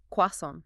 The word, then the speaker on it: croissant: The first way it tries to honor the original French. It sounds like um croissant.